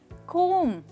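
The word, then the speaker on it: comb: देखिए, इसको कहा जाता है कोम। राइट, कौन सी साउंड साइलेंट है? परफेक्ट, इसमें बी साइलेंट है, लास्ट साउंड साइलेंट है। आप कोम्ब नहीं कोम कहेंगे, म कोम। राइट, सिर्फ म पे आप रुक जाएंगे।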